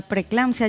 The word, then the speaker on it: preeclampsia: Qué bueno que me preguntes eso, porque la preeclampsia, ya comenzando Preeclampsia. por el nombre, es complicado, ¿verdad? Preeclampsia. Tiene dos E.